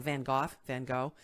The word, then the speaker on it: Van Gogh: We have a lady in town, and her name of her thing is Sip and Go. but it's like Van Gogh.